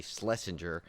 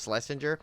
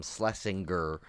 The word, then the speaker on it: Schlesinger: supposed to be actually schlesinger i i typed it wrong on the other thing but it's schlesinger but he doesn't like when people call him slessinger because um you know